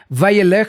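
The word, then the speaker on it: וילך: Vayelech se escribe de esta manera, una Vav, la Yud, Lamed, y Jav. Entonces es Vayelech.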